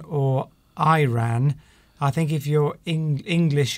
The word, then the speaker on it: Iran: Connell says, do you pronounce it Iran or Iran? I think if you're English, you would pronounce it Iran. Americans tend to say Iran. Yes, so the stress is very different on the first letter.